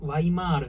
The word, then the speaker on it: Weimar: ツ語からワイマールとか、もう本当はワイマールバっていう発音になるから全部